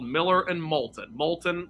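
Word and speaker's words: Moulton: called Miller and Molton Molton like the lava but not spelled like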